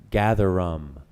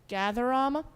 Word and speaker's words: gatherum: Gatherum. Gatherama? Gatherum. Gatherum? Gatherum. Any alternate pronunciations? No, there are no alternate pronunciations.